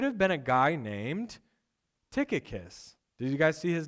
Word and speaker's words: Tychicus: Who is Tychicus? Can you guys say that with me? Tychicus, right?